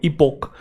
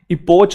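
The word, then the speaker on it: epoch: इपोक basically noun है, इसकी pronunciation एक बार दोबारा देख लेंगे, इपोक। इपोच नहीं है ये, इसमें बच्चों को कंफ्यूजन रहती है च और क के अंदर, तो हम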